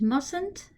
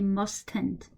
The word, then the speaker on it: mustn't: rules and obligations use mustn't it's not must hint okay it's mustn't this T is silent okay you don't say must end in fact it's very